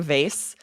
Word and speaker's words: vase: hear both I think I grew up saying vase but I think my partner's family says vas so I've sort of adopted that fascinating okay varant right who's